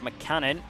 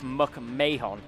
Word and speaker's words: McMahon: I've been saying by accident Joseph McCannon. It is Joseph McMahon, so that is completely my fault.